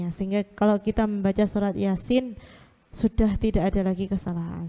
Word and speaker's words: Yasin: Untuk ayat yang pertama, Yasin. Kalau kita sangat tidak tahu ilmunya, ada yang bacanya Yasa.